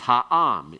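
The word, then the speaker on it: הָעָם: Switch and make that qamets there in that accented syllable. Its regular form, you don't see it there. You don't see it in the har, you don't see it in eretz. But it shows up when you put the article on. Am becomes ha'am.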